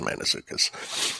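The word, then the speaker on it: Mantzoukas: uh Jason man manukas okay Jason manukas not Mana just man manukas man well that's what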